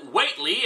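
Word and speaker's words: Whateley: a mysterious man named Watley and I know I'm supposed to pronounce it whately after the minor character from one HP Lovecraft story but screw that this doesn't deserve proper pronunciation anyway the story ended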